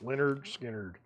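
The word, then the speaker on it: Lynyrd Skynyrd: box set pulse $99.99 Leonard skinnard pronounced Leonard skinnard $649 9 LS was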